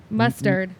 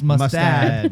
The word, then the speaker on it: Mustad: It's not mustard. It's mustad. Mustad. But she is correct. Yes. She spelled it right. I said it wrong.